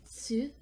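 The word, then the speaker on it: つ: And instead of Tu, it's going to be Tsu. So there's a bit of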